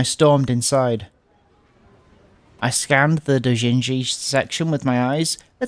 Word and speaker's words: doujinshi: I scanned the doujinshi section with my eyes. How do you say that word? Let's have a listen. Let's listen to the man. Or woman. Doujin. Man. Doujin. Doujinshi.